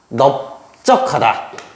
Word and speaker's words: 넓적하다: 밤이 다 되는데 여기 얘네들은요 세 단어만 넙죽하라 넓적하다 넓둥굴다 이렇게 발음합니다 특히 예외적인 부분들이기 때문에